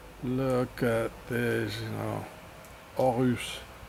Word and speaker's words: Horus: Look at this, you know, Horus. In French you don't say the H, you know, you don't pronounce it. So, I mean, why write it if you don't even have to pronounce it?